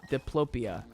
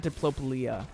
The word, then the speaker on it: diplopia: deplo diplo diplope diploplia diplopia diplopia diploplia yeah it's called diplopley diplopia not diplopulia that's it's just hard to